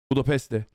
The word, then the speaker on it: Budapest: Kudos for pronouncing Budapest like a pro. Budapeste.